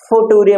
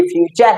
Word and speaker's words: future: इसको फ्यूचर FUTURE फुटूरे मत पढ़ना, ठीक है, ये फ्यूचर है, ठीक है।